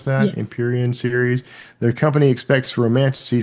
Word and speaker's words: Empyrean: Though the most read books this year were Rebecca Yarrow's Empyrean, is that how you pronounce that? Yes. Empyrean series.